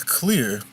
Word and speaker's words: Clisare: Her name is Clear, and yes, that is how her name is pronounced in case you're wondering that it doesn't appear that way given how it's spelled.